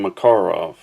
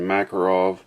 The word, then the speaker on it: Makarov: Okay, next up we have the Bulgarian Makarov, and that probably sounds a little funny to you. You're probably used to hearing Makarov, but apparently the correct pronunciation is Makarov.